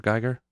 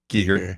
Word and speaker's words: Giger: but I don't care what's the correct pronunciation of uh Giger Gyer Giger Giger okay but I for some reason I've always leaned towards saying Gyer I feel like everyone at least in the western Pennsylvania does krois and Giger yes